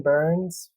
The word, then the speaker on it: Burns: my name is burns from st james missouri okay all right uh last name it rhymes with another last name than i know of evan kearns perfect awesome parents team